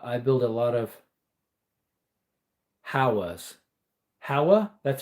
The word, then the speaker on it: Howa: Uh, I build a lot of howas. Howa, that's how you pronounced it.